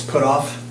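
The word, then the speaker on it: Pottorff: It's put off, Put off. yes. That's how it's pronounced.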